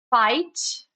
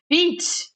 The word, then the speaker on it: fight: O que que ele faz? Ele faz eu abrir a minha vogal anterior. Então, em vez de eu ler fit, ele vai ficar fight.